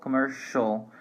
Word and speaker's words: commercial: Well, one thing that I would like to mention before, pay attention that even though we have different spelling here, we have TINAL and CIAL, pronunciation is exactly the same, residential, commercial.